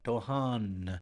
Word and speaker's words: Dohan: here that I notice you actually say the N a little bit. Dohan. It sounds like you wouldn't say it like Dohan, but you put a little bit of the actual N in there.